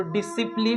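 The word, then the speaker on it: discipline: तो डिसिप्लिन में यहाँ पे सी साइलेंट है दोस्तों। इसे हम लोग डिसिप्लिन पढ़ेंगे, DISIPLIN, डिसिप्लिन, क्योंकि सी साइलेंट है।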